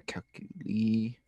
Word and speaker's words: Kekulé: I mean, the first thing is to look at a Kekulé structure. Kekulé or Kekulé. Spell it.